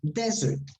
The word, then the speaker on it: desert: you sorry not dessert desert where do you stress this word in the des the first the second the first desert rights good the second is another